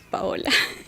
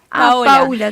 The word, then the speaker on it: Paola: Primero quiero corregir que mi nombre es Paola. Paula, Sí. Igual sí. Está bien. Es re común que me digan Paula desde el disculpa, jardín.